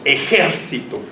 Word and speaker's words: ejército: si decimos ejército entonces se va a acentuar aquí porque el sonido fonético está el ante penúltima sílaba y se convierte si se acuerdan en una palabra esdrújula porque el sodio fonético